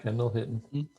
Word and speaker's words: Kendall Hinton: For Tua time, we have Kendall Hinton. Am I pronouncing that right? Yep, Kendall Hinton.